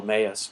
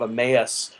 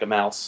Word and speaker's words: Emmaus: apparently the pronunciation of Emmaus does not come come out right if you are a Hispanic speaker it comes out like a mouse so no one got